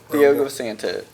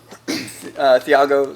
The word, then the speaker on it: Thiago: number three are Anderson Silva Anthony Johnson okay Theo Santo Santos who is it Thiago Santos oh Thiago okay I said it wrong